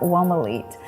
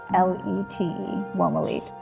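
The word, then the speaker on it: Womolete: So I invented this term, Womalete. I spell it W-O-M-O-L-E-T-E, Womalete.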